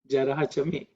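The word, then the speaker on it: जरा च मे: Actually, jarachama is the way when you pronounce chant it because of sandhi with I follows that that's why it becomes ma. But otherwise, it's jarachame.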